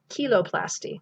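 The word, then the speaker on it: cheiloplasty: cu cuticle and see the ch is also that's a consonant so actually that's kiloplasty that's actually having surgical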